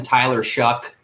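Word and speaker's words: Tyler Shough: But Texas Tech, they won the last 3 games, and that's when Tyler Shuck, it's actually Shough, but it's pronounced Shuck.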